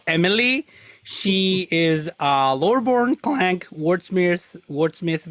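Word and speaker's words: MLII: Okay, so you see M.L.I.I, pronounced Emily.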